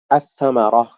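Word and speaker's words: الثمرة: আস-সামারাহ, এখানে আল উচ্চারণ না হয় সাটা উচ্চারণ হয়েছে।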